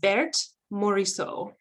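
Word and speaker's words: Berthe Morisot: And so the first artist I want to tell you about, you pronounce her name Bert Morisot.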